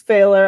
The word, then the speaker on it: Pfahler: and I will say my last name's failer I should haveed you at the beginning but hit me over the head and say that John you're an idiot you mispronounced it it's okay everyone does it's that AG so it's p as a Paul F as a Frank a h l e r so that